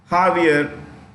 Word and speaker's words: Javier: new P President also jaier the J is pronounce h Javier m is the president of Argentina okay since